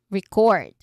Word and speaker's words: record: Record. No, that old record. So we stress on the first syllable here.